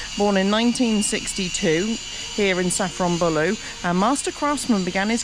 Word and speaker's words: Safranbolu: Uh we left you having fixed our tire, and we've driven up to I'm going to pronounce it wrong, Safranbolu.